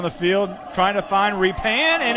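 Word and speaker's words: Rephan: Well, I have to apologize to Matt Repan's family, because all year we've called him Refan or Repan, but actually it's Repan. It's spelled R-E-P-H-A-N.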